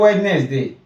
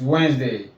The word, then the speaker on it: Wednesday: It's not Wednesday, it's Wednesday. I hope you've learned a thing or two.